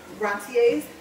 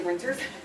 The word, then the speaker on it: rentiers: Retirees, rentiers. Yeah, you should see what I put in parentheses so I can pronounce that right, because I know that it does not say renters, because there's not.